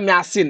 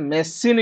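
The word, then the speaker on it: machine: ଏଟାକୁ ତମେ ମୁଁ କହିଲେ ମ୍ୟାସିନ ମ୍ୟାସିନ କହୁଛ, ଆରେ ତମେ କହିବ କଣ ସାର୍ ମେସିନ କହୁଛେ ବା। କଣ କହୁଛେ ନା ମେସିନ।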